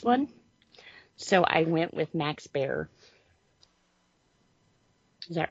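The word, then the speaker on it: Max Baer: Brawn on this one so I went with Max bear is that right is how do you say his name B Bear yeah Max bear Jun yeah from The Beverly Hillbillies yeah yeah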